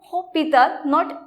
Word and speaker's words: hôpital: For example, hôpital. So hôpital, don't pronounce H over here.